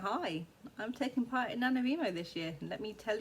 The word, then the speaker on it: NaNoWriMo: National Novel Writers Month, which I pronounce NaNoWriMo instead of how it's probably pronounced as NaNoWriMo, because I'm just weird and British. Although that's not how all British pronounce NaNoWriMo.